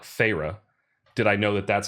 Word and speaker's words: Feyre: on in the novel and calls her like Feyre, did I know that that's how you're supposed to pronounce her name.